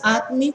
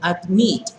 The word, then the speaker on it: admit: admit sí admit sí no es admit sino admit lleva el acento en la última consonante y es de dos sílabas s en la última